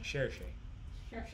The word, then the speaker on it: Saoirse: Cherche. Cherche. Just say it like Sean Connery.